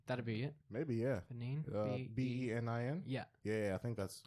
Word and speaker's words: Benin: Benin oh okay that'd be it maybe yeah b-e-n-i-n yeah yeah I think that's I think it's pronounced Benin yeah sounds sounds about right yeah